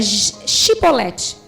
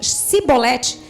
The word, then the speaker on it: Shibolete: Se respondessem que não, os homens de Gileade lhes diziam: então diga Shibolete. E se eles diziam Sibolete, não podendo pronunciar corretamente a palavra, eles os agarravam e matavam no Vals do Jordão.